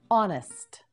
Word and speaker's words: honest: in English let's begin honest Hest honest now you say it honest again Honest One More Time honest that's right the H in honest is silent an honest person is